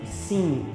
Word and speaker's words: sim: palavras no português que terminam com a letra m mas nós pronunciamos ela com som de n exemplo a palavra sim sim uma português termina com